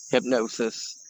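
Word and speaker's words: Hipgnosis: the art collective was called hypnosis and they spell it h-i-p-g-n-o-s-i-s hypnosis and they did a couple black sabbath album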